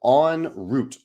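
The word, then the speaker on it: en route: don't know Valerie says the in route is French the way you pronounce it is closer to French than on so on Route on Route I think is what people are saying here Valerie also says any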